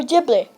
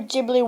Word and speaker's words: Ghibli: hm the creative Studio jbli well he's aircraft mat in fact the name JBL is taken from an Italian aircraft used during World War II just pronounced differently here are some classic